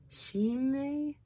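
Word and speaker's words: Shimei: name first and then i'm gonna try to pronounce it s-h-i-m-e-i she may so she may said this in 2nd samuel 16 verses 7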